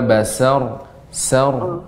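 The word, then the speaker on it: بصر: Sa, ya, huruf sin tetap dia tipis ya, tidak berubah jadi tebal. Wa basar. Namun wa basar sar. Nah, demikian.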